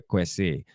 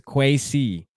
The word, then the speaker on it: Kwesi: jamaican than us man we are quesi question quest say his name is kwesi kwesi adofa minson i got